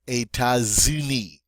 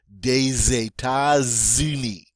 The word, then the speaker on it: États-Unis: So, again, we're going to take this normally silent S. Since it's followed by a vowel, we're going to pronounce it now as a Z. So it's going to be États-Unis. So we have two in a row here. Des États-Unis. Des États-Unis. And you can see that sounds better than des États-Unis.